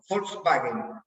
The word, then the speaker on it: Volkswagen: Y la W se pronuncia B corta. Volkswagen.